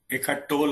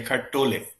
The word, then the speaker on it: Eckhart Tolle: Eckhart Tolle, or somebody say Eckhart Tolle, but both are correct. I think it is a way of pronunciation.